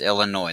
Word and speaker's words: Illinois: and oh yes it's Illinois the S is silent but you period and